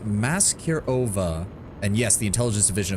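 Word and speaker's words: Maskirovka: It's pronounced Maserova.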